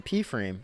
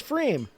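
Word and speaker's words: Pfriem: and I was like, "I always thought it was Freem."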